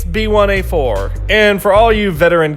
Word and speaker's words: B1A4: Okay, at this point, you'd think we're going to apply the Korean number pronunciation in this case too, thus making it Bilasa. Nope, it's B1A4.